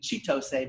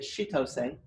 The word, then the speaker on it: Chitose: I know it looks like it should be Chitose, but she pronounces it Chitose, and she's one of our LAs in Physics 118.